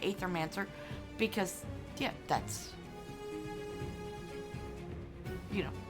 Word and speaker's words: Aethermancer: They pronounce the Ethermancer, which technically the A could be silent, but both pronunciations are correct. And it basically depends on what part of the world you come from as to how you say it.